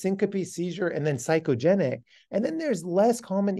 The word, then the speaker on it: psychogenic: is the other s psychogenic it starts with a P but we spell it with an S psychogenic or functional transient